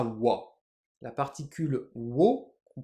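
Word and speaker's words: は: un peu différemment notamment la particule qu'on écrira ha mais qu'on prononcera wa la particule wo qu'on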